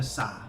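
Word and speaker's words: 사: For another example, the letter sa on paper it's written as SA, right? But there's a bit of a SH going on in there, you know, so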